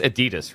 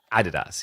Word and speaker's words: Adidas: So it's the Americans that are wrong cuz it's das. It's like it's the most German way you could pronounce Adidas.